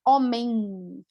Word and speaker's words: homem: Como se pronuncia homem. Homem também tem uma nasalização, usamos bastante o nariz, vamos também falar sobre isso, não se preocupa.